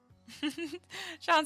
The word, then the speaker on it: Sean: Okay, cool, it's Sean, like Sean Connery, FYI.